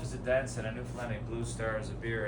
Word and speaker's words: Newfoundland: Now a scuff is a dance and a Newfoundland blue star is a beer and it's pronounced Newfoundland, not Newfoundland or Newfoundland.